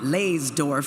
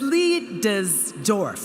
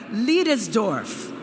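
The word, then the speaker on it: Leidesdorff: I know I've been calling it Leysdorf for years. But it's Leidesdorf. Let's say it together. Leidesdorf. Kind of sounds a little German, huh?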